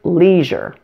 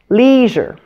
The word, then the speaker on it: leisure: we pronounce this word leisure the first thing to note is the stress pattern this word has two syllables and the first has primary stress listen leisure now let's look at